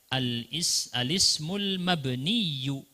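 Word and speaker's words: الاسم المبني: Di situ ada tasydid di belakang seharusnya. Bukan sukun ya, yaknya ditasydid. Al-ismul mabniyu. Bacanya al-ismul mabniyu.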